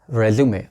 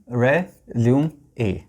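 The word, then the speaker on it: résumé: Next आता है रेज्यूमे। अब ये वो डॉक्यूमेंट है जो हम लोग जॉब के लिए देते हैं। स्पेलिंग सेम है, देखिए, प्रोनाउंसिएशन रेज्यूमे, रेज्यूमे।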